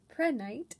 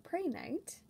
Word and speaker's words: prehnite: very tiny collection of prednite or pray night um it is a i know silicate of calcium and aluminum uh prednite or prenate depending on how you pronounce it crystallizes in the orthorhombic